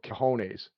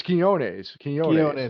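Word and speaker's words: Quiñones: his name is i i want to keep calling cajones yeah uh it's kiones yeah yeah and uh and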